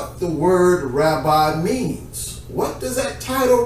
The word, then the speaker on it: Rabbi: But Rabbi, which is the more appropriate way to pronounce it, Rabbi, is a term that endeared respect.